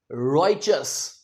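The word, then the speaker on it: righteous: देखने में लगता है राइटस। राइटियस लगता है ना देखने में? पर ये गलत है। यहां पर ये जो टी है इसे हम च की आवाज देंगे। सो असल में इसका प्रोनंसिएशन है रचस। जी हां रचस।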